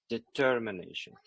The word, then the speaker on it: determination: Event even right and determination determination uh the second vowel will will be stressed here determination and stuborn and model